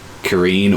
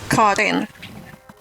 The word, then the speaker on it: Karin: Literally just Karen with an I. Oh, Karin. That's a Swedish name. I've always had it either Kareen or Karen. I've always had different pronunciations. Karin.